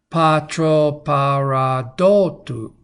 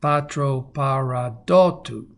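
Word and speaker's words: πατροπαραδότου: Patro paradotu. Okay, try to say that. Patro paradotu. And put your emphasis where that accent comes right there.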